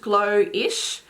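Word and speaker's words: Glowish: the box as well blowish um pronounced glow-ish uh is the love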